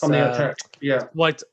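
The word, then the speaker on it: Świątek: I can never pronounce the name properly. It's Swiatek.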